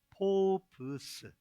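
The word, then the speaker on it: φόβος: 주시기 때문입니다 두려움이라는이 말은 헬라어 발음은 포브스 포브스 이슬람 포비아 뭐 이런게이 단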